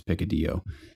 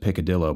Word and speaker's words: picadillo: on the menu but it looked like it says picadillo and my father couldn't determine how to pronounce and I'm like I promise you it's pick a deal but he still said picadillo by accident when the